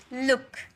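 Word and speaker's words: look: बुक L double O के लुक लुक बोलने में भी जल्दी बोल रहे हो ना?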